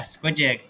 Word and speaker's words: Squi.Jig: Is that how you pronounce it? Yeah. Squid Jig.